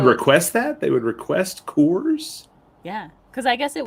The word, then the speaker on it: Coors: man or as or as i pronounced it for a very long time course colors course now now i have to say coors yeah i don't know